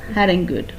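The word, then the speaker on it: harangued: The word is pronounced as Haringud.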